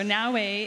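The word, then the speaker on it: Naoe: Am I pronouncing that correctly? Yep, Naue.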